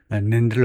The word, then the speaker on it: NAND: 그래서 이렇게 하면 NAND를 어떻게 읽느냐요? 그냥 how do you read NAND 해도 되겠지만은 NAND라고 읽네요.